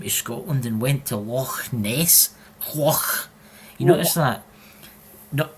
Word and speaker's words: Loch Ness: But I'm just telling you, he actually has been to Loch Ness. See when you say Loch Ness, you've got to go as if you're bringing up phlegm, you know?